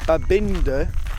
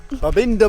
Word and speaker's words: Babinda: mind a a binder I knew I said it wrong as soon as it left me mouth a binder Boulders sorry Betsy babinda Boulders is next and this